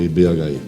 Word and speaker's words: IBHI: Parabéns pelo serviço lá à frente do IBHI. Muito obrigada. O IB, né? Isso. Vamos respeitar aí que o H é mudo, né? IB, pode mais fácil, chamar. É mais fácil falar IB.